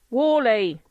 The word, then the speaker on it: Worley: to pronounce it wrong, hence the emphasis on the Worley bit.